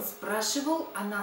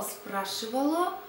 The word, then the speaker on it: спрашивало: Он спрашивал, она спрашивала, оно спрашивало, они спрашивали. By the way, about the neuter gender, the ending O, спрашивало, but we don't pronounce it so clear, спрашивало. We usually say the kind of neutral.